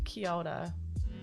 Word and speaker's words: Kia ora: Even though it says Kia ora, it's actually Kia ora. Kia ora. Like Kia ora. You gotta say it quick.